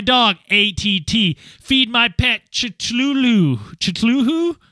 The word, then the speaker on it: Cthulhu: I wake up, ATT, walk my dog, ATT, feed my pet, Chitluhu? How do you say that word, Dan, the weird octopus thing? Cthulhu. Technically, it's Kululu.